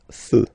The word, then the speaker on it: feux: You don't put S, but you will put X instead, and then you don't pronounce it. Des feux.